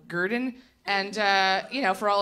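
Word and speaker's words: Gardn: in Brooklyn but uh they spell it gr d n so Gurdon and you know for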